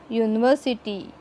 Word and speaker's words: university: समजा, here U is a vowel but pronunciation starts from consonant.